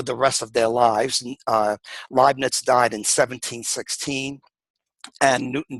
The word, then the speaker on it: Leibniz: significant inroads into calculus prior to newton and leibniz and then of course the co-founders or the